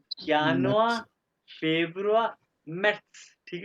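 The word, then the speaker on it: Juni: अच्छा, एहतशाम, अब तुम प्रोनाउंस करो सारे के सारे। January, या यॉट के साथ, यानुआ, January, February, March, April, May, June, यूनी, yacht, June, July, August, September, September.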